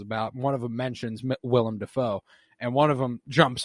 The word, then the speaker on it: Willem Dafoe: yeah I'm watching uh when I'm watching the William Defoe is how he said it um Willem Dafoe but Defoe is how he said it back